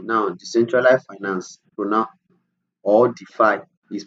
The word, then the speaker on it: DeFi: 3d defy 3d now decentralized finance pronoun or defy is pronounced as if i that's d5 is a